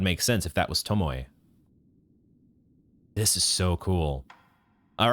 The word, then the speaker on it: Tomoe: Okay, I think it's pronounced Tomoe. There is like a third syllable there.